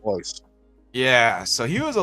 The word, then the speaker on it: Royce: he was ho Gracie ho R but it's pronounced ho yeah so he was a little tiny dude